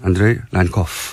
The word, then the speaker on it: 안드레이 란코프: 제가 발음을 잘했습니까? 안드레이. 잘했습니다. 네, 잘했습니다. 네, 안드레이 란코프.